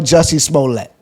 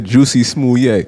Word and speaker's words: Jussie Smollett: Queen's Quarters, your bugging award goes to Carly Russell for being the female Jussie Smollett. Why the French actor Juicy Smollett.